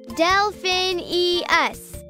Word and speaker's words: Delphineus: was trying to say my name is delphinius stellar what delphin e us got it delphinius got it complicated name cetus our